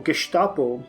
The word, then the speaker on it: Gestapo: Wider world but the Gestapo or gestapo I guess I should pronounce it gestapo because it's the geham